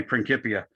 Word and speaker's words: Principia: Notice I'm pronouncing that C like a K. That's the nature of Latin, is there is no soft C as in Principia. It's only Principia.